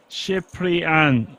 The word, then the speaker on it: Cian: kings the following hand big Alex says cian would be pronounced as Shian okay not too far off